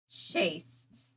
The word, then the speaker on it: Chast: that on purpose but Chast is pronounced chaste chased okay chased I